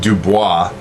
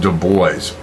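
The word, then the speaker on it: Du Bois: and it's not pronounced Dubois um that would be kind of a French pronunciation uh it is pronounced de boys um this is a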